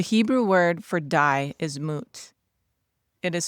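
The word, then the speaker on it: מות: The Hebrew word for die is mut. It is spelled mem, vav, and tav.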